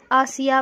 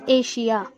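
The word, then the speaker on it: Asia: جب ION، IA کسی بھی لفظ میں آ جاتا ہو یا ڈبل ایس آتا ہو تو وہاں پہ شین کا تلفظ ہوگا۔ اب اس ایگزامپل میں دیکھیے آپ لوگ ایشیا، یہاں پہ ہم لوگ آسیا پڑھ سکتے تھے یا ایشیا پڑھ سکتے تھے، لیکن ہم لوگ پڑھ رہے ہیں ایشیا۔ ملیشیا اور سیشن، ٹینشن،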